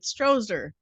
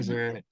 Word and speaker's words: Strozier: And I apologize right now because I did your intro already and I said Strozer. I mean, that a I lot of people pronounced say it wrong. Strozier.